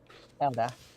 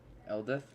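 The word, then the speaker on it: Eldath: Eldith. Yes, Eldith. Eldith. Okay. Oh, I thought you were saying Elda the whole time. No, Eldith. Okay.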